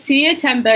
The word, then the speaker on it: Tuiya Tembo: I'd like to make sure I'm pronouncing that right. Yes, you got it spot on. Well done. Okay. Ms. Tuiya Tembo is a solicitor and associate professor of law at the University of Bradford.